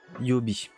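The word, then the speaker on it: 曜日: Par exemple, ça se prononce Gatsu Yobi.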